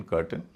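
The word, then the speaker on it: curtain: और फाउंटेन सी यू आर टी आई एन कर्टेन इधर सर्टेन इन example से ऐसा मत समझिए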